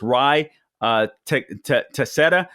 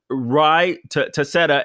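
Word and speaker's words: Ruy Teixeira: pronounce his name but i believe it's rye tosetta t-e-i-x-e-i-r-a by the way he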